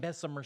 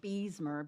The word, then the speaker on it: Beesmer: My last name was Beesmer, Bees, but people always pronounced it I bet you they Bessemer. always said Bessemer. Bessemer. And Yeah. I'm like, there's Bessemer two City. E's.